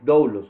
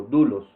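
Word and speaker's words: δοῦλος: En el término griego correcto es doulos o dulos, como usted lo quiera pronunciar, pero somos esclavos de Cristo, es decir, le pertenecemos al Señor Jesucristo.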